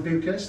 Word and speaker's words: Beukes: first we have the very wonderful Lauren Lauren buas that's the correct pronunciation is M that yeah you will see